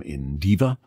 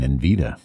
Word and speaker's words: Indiva: We have Simply Bear and this one from Indiva. And I think I might have been pronouncing it wrong all the time. I might have been saying Invita, but it's Indiva.